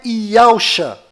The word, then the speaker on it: Yahushua: E a pronúncia é Yahushua.